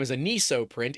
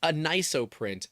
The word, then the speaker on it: Anisoprint: So it's well we were saying it wrong the whole time as an print. It's not. It's anop print like anisotropic and 3D printing. Push it together.